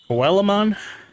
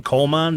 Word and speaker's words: Coelamon: me in the comments coelamon sounds about right the fish Digimon did you come to see me always called him colan but like I never really like